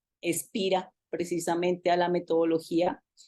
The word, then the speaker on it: SPHIRA: un poquito aclarando sí le llamo con la H muda espira precisamente a la metodología